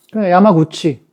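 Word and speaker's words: 山口: 예를 들어서 야마구치 그러면 산이 야마잖아. 그러면 입구자가 구찌예요. 그러니까 야마구치.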